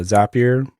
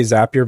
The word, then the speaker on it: Zapier: out to me was zapier as a peer not exactly sure how people pronounce it I say zapier because they have zaps it's their little widgets or containers of functionality and ends up your